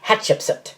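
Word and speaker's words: Hatshepsut: However, I do expect a correct pronunciation as of hatchips. It is the three English words, hat, ship, and soot.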